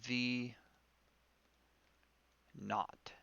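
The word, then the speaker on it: v₀: from essentially uh gravity plus v KN right V not is how you would pronounce that and this is just the initial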